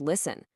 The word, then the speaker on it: listen: right, and oh yeah, that really sneaky T in the word listen. The moment you start looking for them, you'll see these patterns pop up everywhere.